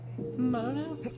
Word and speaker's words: Mono: Mono?